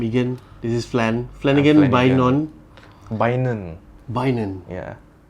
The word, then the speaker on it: Bainon: Bainon. Yeah. Don't ask me how, but yeah, the pronunciation memang Bainon.